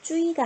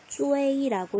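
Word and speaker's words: zui: Z, U, I라고 쓰고요. 뭐라고 읽어요? 쭈이가 아니고 쭈웨이라고 읽어요. 쭈웨이 이렇게요.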